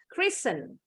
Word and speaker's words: Christian: The T is silent. Christian.